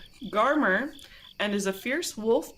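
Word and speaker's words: Garmr: oh I didn't do pronunciation guide is garmer garma sure yeah garmer and is a fierce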